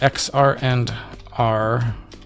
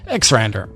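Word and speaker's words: xrandr: missing start x so if i do which x r and r it's like i have to physically force myself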